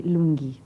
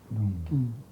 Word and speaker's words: Lunghi: My father was Italian, so it's Sherry, or Chérie, but I don't insist on a French pronunciation. It's Sherry Lunghi. Lunghi.